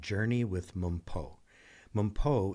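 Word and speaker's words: Mpho: Mumpo is spelled M-P-H-O, Journey with Mumpo.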